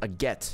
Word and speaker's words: Agate: We can finally return to Agate or Agate. It's pronounced Agate.